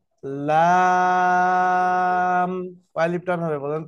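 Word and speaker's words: لام: উপরের দাঁতের উপরের দাঁতের সাথে লেগে কি হবে উচ্চারণ হবে লা লাম কয় আলিফ টান হবে বলেন তো চার আলিফ টেনে উচ্চারণ করতে হবে লাম সকলে উচ্চারণ করেন জোরে জোরে লাম ওকে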